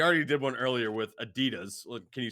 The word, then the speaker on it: Adidas: No, Adidas. So Das. like Das. Yeah, Adidas. Never in a No. million years did I think that's how it was supposed to pronounce.